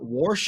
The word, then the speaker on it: wash: Warsh is one that took me a while to get rid of, if I'm being honest. Warsh? Warsh or Hold on. whoosh, mean like your wash, like a wash rag.